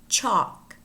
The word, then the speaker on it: chalk: And words in which the L is not pronounced. Calf, calf, chalk, chalk, should, half, half, talk, talk, folk, folk, palm, palm, wood, wood, salmon, salmon.